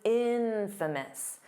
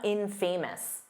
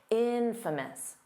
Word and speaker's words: infamous: Because it's infamous. The syllable stress is on the in, so it's not infamous. No, that's not how you say it. Infamous.